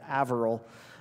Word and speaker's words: Haverhill: of God University in Haverhill, Massachusetts, or as Paul corrects me, it's Averill. I'm like, you Bostonians can't pronounce H's, but it's spelled Haverhill. Dr.